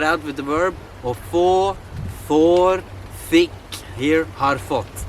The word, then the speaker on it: få: Remember, don't pronounce it as an A. You lose so much and the understanding of the Norwegian will go out the window, should that be. So you gotta be like, or få, try it out with